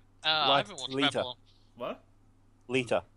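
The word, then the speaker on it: Leeta: I Haven watch what liter liter liter like like a liter of milk pretty much that's how it's pronounced okay leaving that alone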